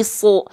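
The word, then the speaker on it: ص: Huruf sod ketika fathah dibacanya bukan sah kan, tapi su. Vokalnya O karena dia huruf yang tebal.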